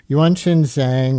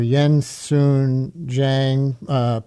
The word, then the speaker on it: Yuanqin Zhang: The boy, Yuanqin Zhang, or Yensun Zhang, people pronounce it differently, and his father, Fei